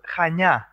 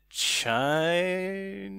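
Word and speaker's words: Chania: think it's just pronounced like how do you pronounce it yeah yeah it's kind of tricky it's called chanya yeah okay yeah and it's difficult okay i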